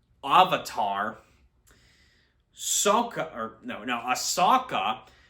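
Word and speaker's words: Sokka: SOA or no no aaka is pronounced as sooka and general iro he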